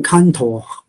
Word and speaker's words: Cantor: 咁呢部分咧係一個德國嘅數學家，用德文發音就係 Cantor 做貢獻。